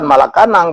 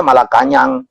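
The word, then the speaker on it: Malacañang: Jadi saya pikir itu adalah istana di Filipina itu bukan Malacanang, bacanya Malakanyang.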